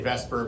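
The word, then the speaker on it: VSEPR: I always say Vesper, but I think that's a James Bond reference.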